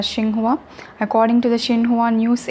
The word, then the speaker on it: Xinhua: female news anchor and you can pronounce it any way you want Ching hua Xing hua but in Chinese they pronounce a Ching hua according to the Xinhua